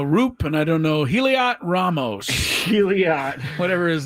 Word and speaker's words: Heliot: I don't know Roop, and I don't know Heliot Ramos. Heliot. Whatever his name. Sorry, guys. I'm trying. Elliot. It's just like Elliot with an H then.